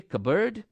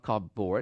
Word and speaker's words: cupboard: Okay, cupboard, it's not cupboard, it's cupboard.